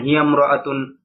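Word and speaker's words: هي امرأة: এবার একটা কায়দা, সেটা হলো গিয়ে ইমরাতুন, এর আগে একটা কায়দা গিয়েছে যে ইমরাতুন শব্দের আগে অন্য শব্দ হলে আলিফটা শুধু লেখায় আসে, উচ্চারণে আসে না। যেমন হিয়ামরাতুন, আনতিমরাতুন, আনামরাতুন, খদিজাতুমরাতুন।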